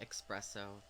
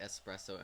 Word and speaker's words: espresso: mr microphone um but i used to say expresso guilty and now i say espresso and whenever i hear